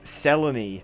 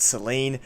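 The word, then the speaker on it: Selene: and here we meet seleny yes I know her name is spelled Seline but she literally says herself that the way you say it is seleny this is selon sel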